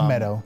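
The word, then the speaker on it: Medoh: It's Meadow.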